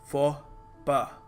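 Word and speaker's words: faux pas: कुछ एक्सेप्शन होता है हम लिखते कुछ हैं बोलते कुछ हैं सो यहां पर याद रखिएगा फॉर पा ठीक है स्पाउस नहीं है सो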